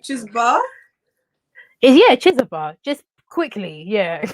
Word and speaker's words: Chizoba: It's the O. It's literally the O that people get. It's like, Chizoba. Yeah, it's like Chizoba. Don't even pronounce the O. Like it's like Chizoba. Like, but people put emphasis on the O. And I'm like, no, don't put emphasis on the O. Like, just forget it's even there.